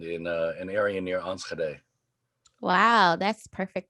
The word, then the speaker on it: Enschede: of uh nidaland in uh an area near enschede wow that's perfect pronunciation too well that kind of sticks with